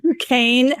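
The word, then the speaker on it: Duquesne: Dukane, which is spelled not like how it sounds, Dukane Amusement Supply Company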